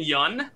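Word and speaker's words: Steven Yeun: you have our own michigan native uh steven yun and that is the way to pronounce it by the way steven yun uh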